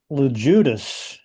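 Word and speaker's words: Loguidice: LeJudas.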